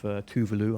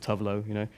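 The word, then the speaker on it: Tove Lo: And I'm a big fan of Tuvalu. I found out that's how you pronounce it, Tuvlo, and got her to sing on it as well.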